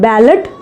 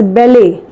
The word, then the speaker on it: ballet: So this is called as not ballot. Okay, this is called as ballet. Ballet, it is a kind of dance you might have heard. So it is called as ballet, which is a correct pronunciation.